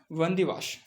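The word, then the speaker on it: Wandiwash: यहाँ पे battle of वंदीवाश, देख सकते हैं बैटल ऑफ वंदीवाश। डब्लू है यहाँ पर, डब्लू का उच्चारण जो है बी की तरह होता है।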